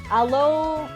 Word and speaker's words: Alola: I Yeah, I'm saying it wrong. It's alola.